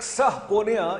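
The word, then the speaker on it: subpoena: खबर से तजिया तक सह पोनिया यानी ये spelling S यू बी पी ओ एन ए B silent है ये एक कानूनी कारवाई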